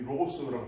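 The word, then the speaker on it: λόγος: 그래서 여기는 더 그다음에 말씀, 이 로고스라고 발음하는데 말씀 이렇게 되어 있는데 이 테오스 앞에 이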